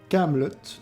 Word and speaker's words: Kaamelott: Kaamelott, donc, avec 2 A pour rappeler les initiales d'Alexandre Astier, et 2 T pour qu'on les prononce et que cela nous évoque la camelote, qui est un objet de piètre qualité.